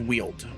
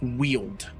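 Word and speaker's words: Weald: was like and he's Ryan said from the way it's written it would sound like wheeled like w-h-e-e-l-e-d so yeah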